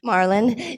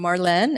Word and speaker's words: Marlene: Marlon, Yes. you want to introduce yourself to everybody? Hi, I'm Marlene, and I'm addicted to vampires. So you pronounce it Marlene.